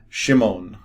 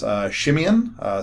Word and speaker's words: Shimon: Shimon, right, is where it kind of started. Shimon would come into Greek as Shimeon, so this is how it would come into Greek. And then over time we've started to say it Simon, and they abbreviate things over time as well.